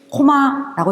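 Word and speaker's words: 高麗: 얘를 코마라고 읽습니다. 코마. 그래서 고구려를 코마라고 읽는 겁니다.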